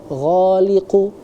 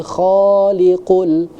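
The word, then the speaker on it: الْخَالِقُ: Ada huruf ko. Nah, di situ harus jangan sampai lantik huruf goliqu. Salah ya. Harusnya huwallahul kholiqul bariul mushawwiru.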